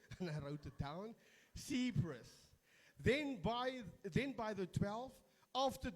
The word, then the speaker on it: Cephas: I googled, I say pronunciation, and I wrote it down. Cephas.